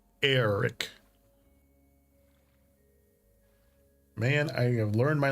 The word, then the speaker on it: Eric: I thought it was just Eric because it was spelled Eric, like normal, but the way that they pronounced it was Eric, like Eric. I'm like, so it's not Eric? He goes, no, it's Eric. I'm like, okay. like AIR. Eric.